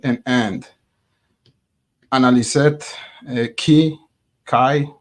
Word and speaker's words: chi: end analys it key Kai rhymes with pi you're right simal could